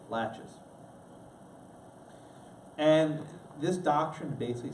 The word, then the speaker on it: laches: looks like Lacs but it's pronounced latch it's not Lachey's laches and this doctrine basically